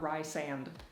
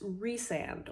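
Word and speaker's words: Rhysand: sand rise and oh like rise and the S goes with the rise is rise and not Rye sand okay that's way prettier turns out it's re-sand or res for shorts so I just said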